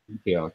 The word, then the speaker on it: Antioch: How do you pronounce this? Antioch? Antioch, yeah.